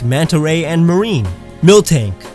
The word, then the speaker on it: Miltank: Miltank. Not Milk Tank, that's ridiculous. Don't add K's where they don't belong!